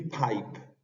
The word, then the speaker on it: pipe: palabra hug hug y Pipe en este caso la palabra Pipe tiene la aspiración que se le dicen aspiration más que una